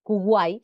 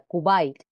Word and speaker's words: Kuwait: En vez de decir Kuwait, se diría Kuwait, o Hollywood sería Hollywood. Seguimos por aquí.